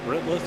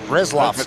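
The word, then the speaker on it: Retzlaff: Rifflet, how you say it? Resloff.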